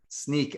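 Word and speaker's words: Snyk: they acquired them interesting yeah sneak i believe the canonical pronunciation is sneak has been bothering me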